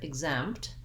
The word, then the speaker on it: exempt: in the word exempt we have second syllable stress so the exempt syllable is stressed and the egg syllable